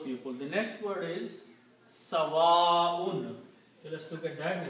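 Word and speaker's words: سَوَاءٌ: Also, one thing to notice is that in the tajweed, whenever there is a hamza, this hamza here, and if there is an alif, which is this one, before hamza, then we always recite this alif a long way and call long mad.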